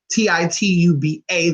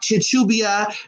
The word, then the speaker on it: Tituba: be to to blue it could be Tituba a to be Tituba however you say that how are your tongue is but it's not choo-choo BIA it's not tied to BIA it's not to bucho you know let's get it